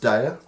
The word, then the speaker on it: Daya: Pronounced Daya.